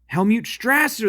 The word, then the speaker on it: Helmut Strasser: wolf set up a new it's um hel hel mute isn't that hel mute Helmut straser that's right it's Helmut straser he's one of